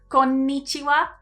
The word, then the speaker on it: konnichiwa: something called mora so if i take the word konnichiwa konnichiwa so notice here we've got here we've got five more but if we split it into syllables like we do in english it would be like konichiwa it would have four syllables so each of the